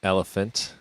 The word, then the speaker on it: ELPHNT: really good and that website is elephant which is spelt ELPH NT there's echo dot C oh yeah that's coz a which is the South African domain okay so yeah it's like elephant without the second E or the a it's